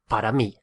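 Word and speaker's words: para mí: me and for you which is the word for is spelt p a r a and then me is m i with an accent so for me is parami and for you parity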